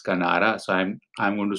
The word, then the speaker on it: Canara: It's Canara Bank. And as for the trick, if you see overseas also means Kinara, and Kinara rhymes with Canara, that is Kanara.